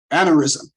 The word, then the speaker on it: aneurysm: Now, this actor was hospitalized after suffering a brain he suffered a brain, how do you pronounce that word? Aneurysm.